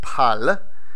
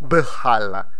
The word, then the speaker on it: bħal: Next, and last of the basic particles is pal, which is B, even though it's pronounced as P, because you just cannot pronounce it bħal.